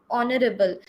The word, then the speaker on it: honorable: Because our honorable, the pronunciation is starting with o, that is a vowel sound.